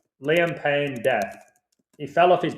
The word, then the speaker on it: Payne: Payne rhymes with Spain.